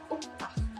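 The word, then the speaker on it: octaaf: Kalau kita lihat di kata yang paling pertama, pelafalan dalam bahasa Belandanya itu dilafalkan uktaf. Jadi O-nya lebih terdengar U.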